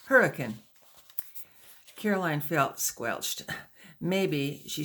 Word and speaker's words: Hurricane: understand Caroline pressed further when you say hurricane do you really mean hurricane she said emphasizing the cane well nobody pronounces it like that in Utah we just say hurricane Caroline felt squelched maybe